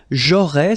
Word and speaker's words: j'aurais: J'aurais, so final S, not pronounced, j'aurais.